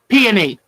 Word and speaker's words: peony: I just did peony I looked up the correct pronunciation I'm trying to learn peony not peony peonies so I was hoping